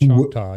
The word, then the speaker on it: Choctaw: It was the American Choctaw Indian tribe. I hope I pronounce it correctly. That's correct. Choctaw, who were on the Trail of Tears in 1847.